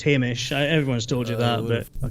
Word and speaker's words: Hamish: your name hamish i mean it is pronounced hamish everyone's told you that but during these last